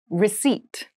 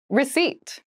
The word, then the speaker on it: receipt: meal room service meal receipt receipt receip receip has a very interesting spelling there is a p in the spelling of this word